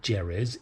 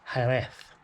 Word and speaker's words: Jerez: No, it's not Jerez, is it, Gary? It's Jerez.